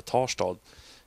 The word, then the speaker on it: Tarstad: Till en liten mini-mikroby utanför Svalöv som heter Tarstad. Eller Tarsta som vi sa. Eller som vi säger, alla säger. För ingen uttalar exakt alla bokstäver i svenska.